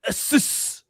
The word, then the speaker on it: Asus: You got an Asus.